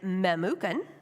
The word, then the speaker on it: Memucan: I'm not going to say this guy's name wrong, right, but it's Memucan.